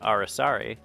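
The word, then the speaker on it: araçari: The collared araucari, which can also be pronounced arasari, is a small toucan of tropical lowlands.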